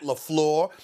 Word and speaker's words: LaFleur: never do it again his name is Matt Lafleur that's what I'm going to call him and I'm not gonna play with the pronunciation of his name ever again my apologies